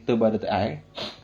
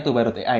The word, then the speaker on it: Toba.ai: Terus sedikit perkenalan dari Toba.ai. Jadi bacanya Toba.ai ya, bukan Toba AI atau Toba.ai, tapi Toba.ai begitu.